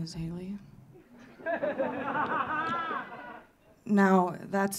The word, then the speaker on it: Hayleigh: It's Hayleigh. The G is silent like the victims of the Haitian genocide.